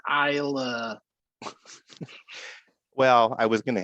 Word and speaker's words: Islay: It's uh finished in French oak and islay scotch barrels. Wow. It's pronounced Isa.